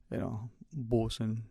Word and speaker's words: Boatswain: be reminded is actually, Bosun Bay. The two spellings, one English and one American, according to accepted and respected dictionaries, have them spelled differently, but the pronunciation is one and the same.